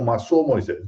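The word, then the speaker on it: Massaud Moisés: Ela seguia um livro de literatura muito bom de um professor chamado Massaú Moisés, que alguns pronunciam Massou Moisés, professor da Universidade de São Paulo.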